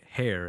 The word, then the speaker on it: Hare: up with the name hair and just for those listening it's spelled like h-a-r-e as if like the rabbit and that's your logo